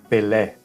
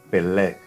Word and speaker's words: Pelé: O acento agudo, gente, é um acento aberto, né? Então, esse acento aberto, pois ao final da pronúncia você realmente mantém a boca aberta por mais tempo que o normal. Vocês vão perceber na pronúncia que a minha boca vai se manter mais aberta ao final, ok? Na verdade, eu mantenho ela aberta ao final da pronúncia. Um exemplo, Pelé, ó, Pelé. Aí já aparece a diferença, olha que engraçado.